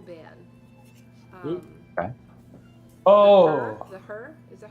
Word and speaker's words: Hu: The Her? Is that how you pronounce it? Who? It's not the Who. Like that's The all I Who? know. It's spelled HU, but it's like the Her.